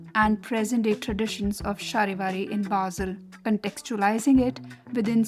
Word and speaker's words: Charivari: For Shahiari.